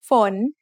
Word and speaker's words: ฝน: ฝน ฝน is a rising tone because we have a high class initial with a live syllable ending.